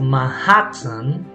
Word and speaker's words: Manhattan: so if you notice the pronunciation of manhattan she doesn't quite pronounce the t fully she uses a glottal stop so what is a